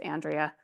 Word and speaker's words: Andree: But if I want to have that conflict and I say, you know, my name's pronounced Andrea, that's a content thing, right?